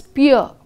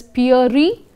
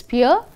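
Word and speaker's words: Pierre: pronounced as this name this is to be pronounced as pure if any of you pronouncing it as pure e it is pronounced as pure and this sometimes pronounced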